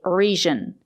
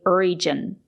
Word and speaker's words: region: region or a place it's not correct to say region we have to say region we have to use the J sound not the J sound sometimes the letter G is pronounced with a z sound but not in this case we have to say region with a ju sound like in juice and jump let's listen to some